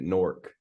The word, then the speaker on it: Newark: Yeah, I just saw something where people in Newark they pronounce it Nork.